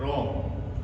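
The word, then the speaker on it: wrong: किसी शब्द के शुरुआत में डब्लू आए उसके तुरंत बाद में आर आए। तो यहां डब्लू फिर आर यहां डब्लू फिर आर यहां डब्लू फिर आर तो इसमें डब्लू जो है हमारा वो साइलेंट रहेगा तो इससे बन जाएगा राइट रेट रोंग तो हमने ये कुछ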